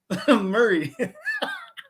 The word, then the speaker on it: Murray: That's how we pronounce Murray. Murray. Is it like lemon meringue pie? Minus the G.